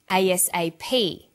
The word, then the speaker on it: ASAP: is pronounced separately but the last letter is pronounced more strongly because it carries the primary stress so we say USA ASAP ABC and TV listen